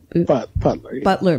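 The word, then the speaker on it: Beutler: herrera how do you say her last name buetler butler butler okay um who had all a republican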